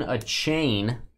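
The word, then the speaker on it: Achane: a hundred this number to 100 uh Devin a chain it's apparently how you say it Devin a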